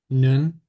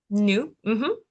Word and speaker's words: nu: So all you're doing in this case is pronouncing The this. Mhm. So then the third one would be nun. New.